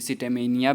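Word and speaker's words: scitaminea: तो वो हमारा है अस्टिलेगो सिटेमिनी, ठीक है। इसे सिटेमेनिया भी आप लोग बोल सकते हैं, जिस हिसाब से आप प्रोनाउंसिएट कर सकते हो, अलग अलग जगह पर अलग अलग किया जाता है।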